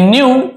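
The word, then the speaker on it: knew: यहां पे के साइलेंट है के एन एक साथ हो तो हम उसे क्यू ऐसे क्यू नहीं पढ़ेंगे केवल न्यू पढ़ेंगे लेकिन लिखते समय लिखते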